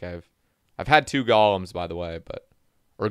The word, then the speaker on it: golem: way but or golems these are pronounced golem and i for my entire life have said gollum uh yeah anyway i gotta get used to saying golem they are golems guys they're not gollums if you're like me